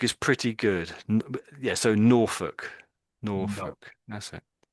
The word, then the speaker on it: Norfolk: So, Norfolk. Nor. That's it. And so it's just nor and then folk you could say, but we sort of say it as Norfolk. Norfolk.